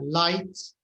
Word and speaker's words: light: GH in English is usually silent. And a night, and a sight, and a light, fight, might.